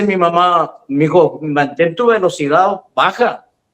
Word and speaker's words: Velocidad: Velocidad.